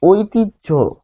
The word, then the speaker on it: ঐতিহ্য: ফলে আমরা পাচ্ছি ঐতিহ্য, ঐতিহ্য।